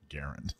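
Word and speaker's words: Garand: that say the t-shirt will say actually it's pronounced garen yeah or is that nice and obnoxious or i beat sam the gunman i like the it's pronounced garend one because it's got more mass appeal in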